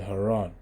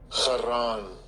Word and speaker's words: Haran: years, and Terah died in Haran.